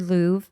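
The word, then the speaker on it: Louv: and it's written by Richard Lou I think is how you pronounce his last name l u v l UV and he wrote this many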